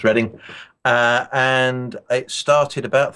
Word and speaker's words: Reading: The town is Reading, rather than Reading. I know it's written Reading, but it's pronounced Reading.